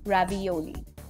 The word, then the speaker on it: ravioli: you might have heard of is it is pronounced as ravioli it's basically mainly square in shape but it